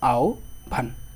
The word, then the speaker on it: আহ্বান: রস ও বা রস যেমন আহ্বান আহ্বান বানানটা আছে এখানে আমরা হ এর পরিবর্তে কি দিব হ এর পরিবর্তে দিব ও আর ব এর পরিবর্তে কি দিব ভ যেমন আও ভান আও ভান কথা কি